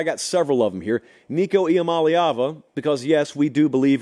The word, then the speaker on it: Nico Iamaleava: Nico Iamaleava, because yes, we do believe in pronouncing college football players' names right on this